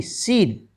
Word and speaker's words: scene: इकट्ठे आए हैं, तो आपने उसमें C का उच्चारण नहीं करना है, C को आपने नहीं बोलना है। तो SCEN, ठीक है, SCENE, सीन, SCIENCE, साइंस, और SCENT, सेंट, SCHEDULE, शेड्यूल।